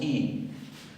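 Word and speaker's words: οι: En nominativo, tanto para masculino como para femenino, tenemos I. Se escribe omicron iota, recordarán, pero se pronuncia I y quiere decir los o las.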